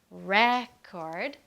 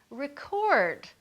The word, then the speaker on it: record: the word record so sometimes we say it like record with the stress on the first part and then other times we say record with the stress on